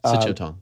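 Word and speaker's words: Sityodtong: Sichotong. Yeah, exactly. He's one. I'm glad you knew how to pronounce his last name, because there was no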